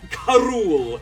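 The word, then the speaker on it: K. Rool: it was glorious king k rool or carol as you pronounce it for those who grew up with the weird saturday morning cartoon oh my god s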